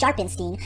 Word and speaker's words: Sharpstein: Now yes, I know his last name is technically pronounced Sharpenstein, but I intentionally mispronounced it because, let's be honest,